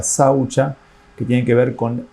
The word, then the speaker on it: saucha: algunas observancias Como por ejemplo en sánscrito se pronuncia saucha que tiene que ver con el orden y